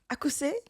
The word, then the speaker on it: Akuse: Like, I learned, like, yesterday I was sitting there like, let me learn how to pronounce these words. In Sawam, you got right. Koforidua. Koforidua. Akuse.